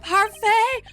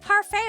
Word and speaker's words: parfait: Is it pronounced parfait or I don't think the T is pronounced.